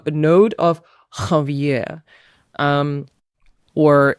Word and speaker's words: Ranvier: To be honest, this gap here is called a node of Ranvier. Um or if you want to pronounce it in English way, it would be node of Ravier.